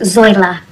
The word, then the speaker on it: Zoila: Now, Zoila. Actually, it's pronounced Zoila.